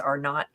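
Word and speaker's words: R0: is the you know R O I think it's pronounced R not but what is the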